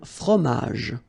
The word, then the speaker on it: fromage: all right, then un fromage, okay, remember, G-E-J, okay, in that case, you don't insist on the final J, fromage, un fromage, all right, then une salade, un dessert, un café.